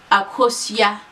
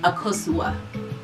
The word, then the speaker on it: Akosua: i let it pass correct pronunciation akushiya like you gotta say it with that face yeah to make it more palatable to the american tongue i just tell people that my name is akosua i just tell people